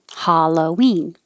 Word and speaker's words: Halloween: them completely excuse me halloween it looks like an a and it's an ah ha ha halloween saying we don't really